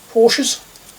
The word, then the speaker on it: Porsche: I've just realized this seems to be a bit wider than normal uh Porsches. I always forget that it's actually pronounced Porsche.